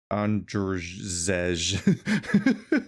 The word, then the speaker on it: Andrzej: how you spell, I don't know how to pronounce this guy's name, Andre Sapkowski. Oh, the writer, right. Andrzej. The J's are E, I don't think always. that's right. Yeah, I'm just gonna say Andre Sapkowski.